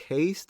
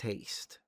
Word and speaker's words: haste: Yeah, so haste is a spell in D&D, but I never knew is it haste or is it hast? It's haste.